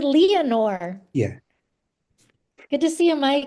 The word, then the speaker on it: Leanor: So I actually am very happy to have a Lenore of a 5 iron Actually, frenzy. we pronounce it Leanor.